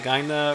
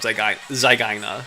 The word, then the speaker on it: zygaena: It's closer to the second one, but I say Sphyrna zygaena, just because like the Y and the AE in Latin, they do sound kind of similar to that.